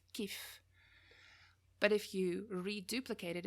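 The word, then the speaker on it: كيف: word that most people know for how is kaif but in tunisian it's pronounced kief but if you reduplicate it if you say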